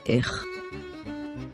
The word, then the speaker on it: איך: איך, איך, Do you remember that the letter aleph is a silent letter? In this example, the nikud sign under the letter aleph tells us to pronounce a long vowel a. This nikud sign is called צירה. This nikud sign tells us to pronounce the vowel a, as in the word excellent. So this word is pronounced as איך, איך, I hope you